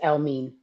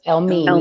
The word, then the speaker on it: Elmiene: But like my favorite voice right now, favorite album, just catalog is El Mean. He's out from London. He's really, really dope. He has a beautiful voice. He has a beautiful voice. El Mean, yeah.